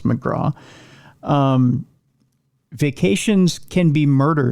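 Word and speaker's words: MacGraw: It's pronounced McGra.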